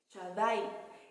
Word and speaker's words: Shaddai: Hay otro que se llama El Shaddai, se escribe S-H-A-D-D, las dos, A-I, Shaddai, y significa Dios Todopoderoso.